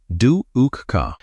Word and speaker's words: dukkha: The first noble truth is dukkha, pronounced dukkha.